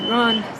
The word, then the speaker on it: yuan: There are not really any English words that work with the correct pronunciation of yuan, but some are closer than others. When, W-H-E-N, is probably closer than one.